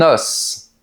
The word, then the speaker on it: os: Pire encore, si on prend le mot os, ici, au singulier, on prononce le S. Par exemple, le chien adore son os. Mais au pluriel, le S disparaît de la prononciation.